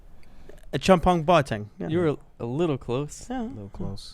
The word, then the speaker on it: Acheampong-Boateng: that name i'm from ghana so it's it's pronounced a champion wating a chum punk bar tang yeah you're a little close yeah a little